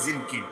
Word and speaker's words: জঙ্গি: তুমি যদি সুপুরুষ হতা তাহলে নিজেরাও জঙ্গি বলতা, নিজেরাও তুমি যোদ্ধা বলতা, নিজেরাও সাহসী বলতা। নুরুদ্দিন জঙ্গি, যদিও নাম হলো জিনকি, আর ওই তুরস্কের উচ্চারণ বলে জেঙ্গি, কিন্তু বাংলাদেশে প্রসিদ্ধ হয়ে গেছে নুরুদ্দিন জঙ্গি, ইমাদুদ্দিন জঙ্গি।